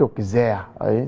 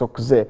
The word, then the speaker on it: Auxerre: Not Auxerre. Some people pronounce Auxerre. It's Auxerre.